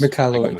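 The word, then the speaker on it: Michalowicz: it pronounced Michael Malowitz or McAllowitz. McAllowitz, yeah.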